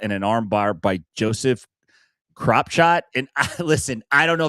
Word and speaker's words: Kropschot: Unfortunately, John Koonman gets caught in an armbar by Joseph Kropshot. And listen, I don't know if that's how you pronounce the name. It's spelled Kropschot. That sounds like Kropshot to me.